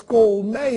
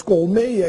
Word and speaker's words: colmeia: Sabia que apenas no Brasil as palavras colmeia e centopeia são pronunciadas com timbre aberto? Se você for a Portugal e escutar as palavras colmeia e centopeia com timbre fechado, não estranhe, porque eles também estão falando corretamente. Agora, depois da reforma, existem